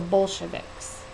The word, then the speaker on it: Bolshevik: And some of the people who felt this way were called the Bolsheviks. You see it up there, it's B-O-L-S-H-E-V-I-K-S. It's pronounced Bolshevik.